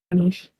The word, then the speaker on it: Ganesh: You're pronouncing it correctly. Ganesh.